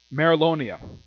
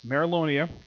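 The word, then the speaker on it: Mereoleona: we have merrill Amer he pronounced this woman's name it is Merrill Oh Nia yes Merrill onea who is fighting layer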